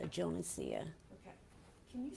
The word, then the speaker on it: Jonesia: It's Jonesia. Okay. Can you spell that for our court reporter?